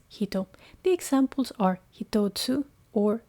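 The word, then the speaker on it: 一: The reading is hito.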